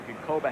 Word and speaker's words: Ginkoba: We welcome Steve Berger, who joins us here with a interesting cap of his own on G-I-N-K-O-B-A. How's that pronounced?